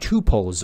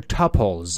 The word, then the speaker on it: tuples: So let's talk about tuples or tuples. As far as I know, both pronunciations, I mean tuples and tuples, are correct.